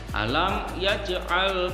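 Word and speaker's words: ألم يجعل: Alam yaj'al di situ harus dipantulkan. Kalau alam yaj'al itu salah karena itu huruf qalqalah, maka dalam membacanya ya harus dipantulkan. Alam yaj'al kaidahum fi tadlil, itu yang benar. Yang salah alam yaj'al, karena tidak dipantulkan maka itu bacaannya salah.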